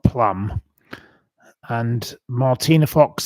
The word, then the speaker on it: Martina: No, you have to say her name. Martine Fox. Martina. Martina. Yes.